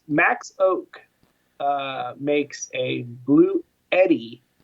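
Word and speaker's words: Bluetti: hit it Max Max Oak uh makes a blue Eddie not Yeti Eddie that's how it's pronounced that's what I've been told um this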